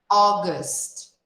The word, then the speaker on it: August: August, August. Observa que nós escrevemos esse mês com a letra A, mas nós pronunciamos o início dessa palavra com o som de O, porque é a junção da letra A com a letra U.